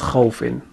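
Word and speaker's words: خَوْفٍ: So the first syllable we have is kha fatha waw sukun khaw. Kha is a heavy letter, it has fatha on top of it, it is followed by waw and waw has a sukun. Kha fatha waw sukun khaw. Kha fatha waw sukun khaw. Kha fatha waw sukun khaw. The next syllable we have is fa kasratain fin. Fa is a light letter, it has kasratain underneath.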